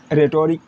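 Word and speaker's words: rhetoric: मतलब आपको एक ही चीज़ सीखना है कि किसी वर्ड की शुरुआत अगर आर एच से हो तो एच आपका साइलेंट होता है, ठीक है। मतलब आर से पढ़ते हैं हम लोग राइम, रिदम, रेटोरिक, ठीक है, रॉन्ग, राइट, रिटर्न, ठीक है।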